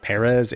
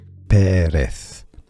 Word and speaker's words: Pérez: Although, if you want to get nutty with it, you could say that Pérez is, I guess, a Latin Americanized pronunciation. In Spain, you'd get all lispy with that Z. Pérez.